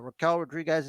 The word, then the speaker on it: Raquel Rodriguez: as big look some might say taller uh Raquel Rodriguez is out here for Revenge am I saying